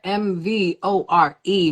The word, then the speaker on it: MVORE: MVORE, MVORE, motivated, versatile, original, real, and extraordinary. That's MVORE. It's pronounced MVORE, not MVORE, Yo, not remember MVORE. It's MVORE.